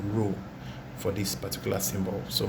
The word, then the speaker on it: rho: a symbol for density it is called rule it's a greek letter and that is the sound that's the how you pronounce the word rho for this particular symbol